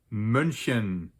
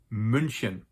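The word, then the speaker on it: München: in Germany with almost 1.5 million inhabitants is pronounced munin there is actually an English spelling to that City's name Munich but in German we pronounce it munin the original name of Munich munin was actually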